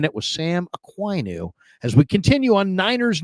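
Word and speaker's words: Okuayinonu: What's the best pronunciation of your last name? Ainu. Ainu.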